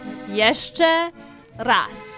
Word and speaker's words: jeszcze raz: Jeszcze raz. Jeszcze raz. Perfect. Do I roll the R like that? Jeszcze raz. Jeszcze raz. Jeszcze raz. Jeszcze raz. I love this. Jeszcze raz.